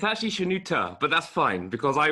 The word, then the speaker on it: Shenoute: He will be saying a little bit this evening about Shenoute the Great. Is that the correct pronunciation? It's actually Shenouta, but that's fine, because I was calling him Okay.